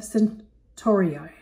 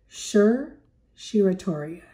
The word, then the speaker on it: certiorari: matter of writ of centuriae. Let's say it. I pronounced it wrong. In fact, it's pronounced certiorari.